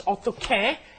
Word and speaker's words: 어떻게: But the real pronunciation is 어떻게, and that's how do you do something, right?